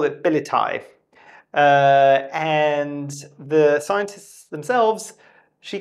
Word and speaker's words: Billietiae: was on Instagram, and she said, actually, if it's based on my name, it would be Philodendron Billietiae. So that's the kind of more correct pronunciation, if I'm not mistaken, basically.